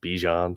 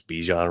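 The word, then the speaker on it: Bijan: He likes it Bejon now. So now he wants it pronounced Bjon. So, it's Bejian Robinson.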